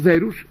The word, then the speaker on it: verus: para los cuales Deus Verus, el dios verdadero, es Deus cerus, es el dios feroz, porque la v la pronuncian como f, ¿no?